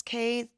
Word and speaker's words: Caye: Looks like Caye, C-A-Y-E, but it's pronounced C-A-Y-E.